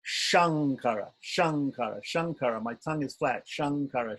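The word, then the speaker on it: Śaṅkara: so here the difference Shankara Shan mocha Shankara is palatal Shan mocha so sure flat tongue flip the tongue back sure sure sure sure sure can you hear the difference I'm trying to make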